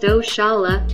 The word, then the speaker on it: Oxalá: Oxalá, pronounced Oxalá, is a Brazilian corruption of the Yoruba Orixá-Enlá, another name for Obatala.